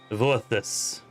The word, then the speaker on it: Voithos: is a w sound the b is a v sound gotta remember that oh it's vorthus who's this correct i am